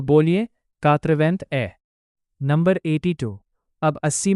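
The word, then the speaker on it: quatre-vingt-un: इसीलिए 81 का फ्रेंच में प्रोनंसिएशन होगा कातवेंथ ए। तो बोलिए कातवेंथ ए नंबर 82 अब 80 में दो जोड़ते हैं।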